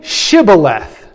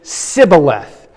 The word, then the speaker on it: shibboleth: So these poor Ephraimites couldn't pronounce sh, they had to say sa instead.